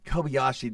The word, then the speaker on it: Kobayashi: it's last name is UI Kobayashi yeah it's Kobayashi I was right yeah yeah so Jesus high probability we butchered that thing all the way through I